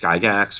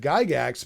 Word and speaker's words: Gygax: how to pronounce the name right so I pronounced it guy gaxx or he yes that's it I've always said Gygax but the people that are seeing Gygax were